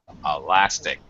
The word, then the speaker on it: elastic: Elastic. Yeah, you're right. It's going to be the second syllable. It sounds weird if you said elastic.